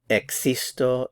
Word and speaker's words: existo: Notice too in the pronunciation that in Spanish you hear a K sound. So existo, existes, existe, existe, existe.